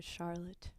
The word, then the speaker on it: Charlotte: reminds Very me famous of Charlotte. artist. Okay. And Charlotte's. It rhymes with harlot, but she's not that one.